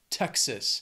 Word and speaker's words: Texas: I don't know why they say that, it's just an expression from Texas. Then we have Utah. Two syllables, stress is on that first syllable, Utah.